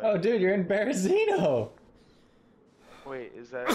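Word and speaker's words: Berezino: I am at Bepeno. That's what it looks like it's spelled. Like. Oh, dude, you're in Berzino.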